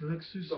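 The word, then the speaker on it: Luksusowa: It's LOOK-SOO-SO-VAH. The whole fucking thing. It says... LOOK-SOO-SO-VAH?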